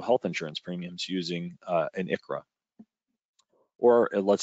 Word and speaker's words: ICHRA: So again, big acronyms, ICHRA and QSERA is how we're pronouncing these acronyms.